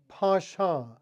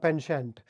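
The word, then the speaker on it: penchant: the British pronunciation is Pasha it is a word of French origin so you would have to speak it as if you were Himes nasal sounds Pasha the American pronunciation is pent so it basically means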